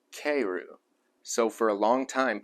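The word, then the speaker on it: かえる: The Japanese word for return home and frog are both pronounced keiru.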